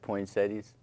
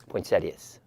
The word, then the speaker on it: poinsettias: the um over the Christmas holidays and you pronounce that poinsettias poinsettias okay we have some in front of our